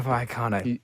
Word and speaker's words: Vallecano: Rayo Vallecano. Double L's are pronounced as a Y.